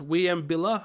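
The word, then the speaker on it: Wieambilla: Some of them violent such as the 22 will uh I think it's pronounced William shootings which was William.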